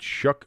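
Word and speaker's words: Shough: The name Shuck, S-H-O-U-G-H, specifically referring to Tyler Shuck, is pronounced Shuck, rhyming with luck or truck, not show like you would imagine.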